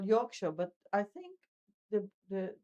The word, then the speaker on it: Yorkshire: that which they call Yorkshire, but I think the the the the type the brand the phrase is written Yorkshshire but nobody says Yorkshshire Yorkshire just Yorkshire.